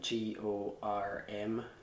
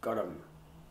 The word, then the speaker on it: gorm: And for example, like the Gaelic for the word blue, spelt G-O-R-M, is pronounced gorm. It's got this, I believe it's called a joining vowel in between R and M, gorm.